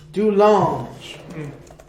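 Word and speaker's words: De Lange: Do large. Do large. The French pronunciation.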